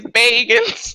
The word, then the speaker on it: Baggins: I just want to say that's not how you spell Baggins. Well, My OCD is triggered. it's their name. They can spell it however they want. Their parents. Ma and Pa Bilbo Baggins. Bagans. Bagans. Oh, they must hate that. Mr. Baggins, come to the front of the class. It's Bagans.